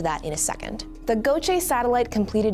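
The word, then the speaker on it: GOCE: field and steady-state ocean circulation Explorer pronounced Gocha for short because the European Space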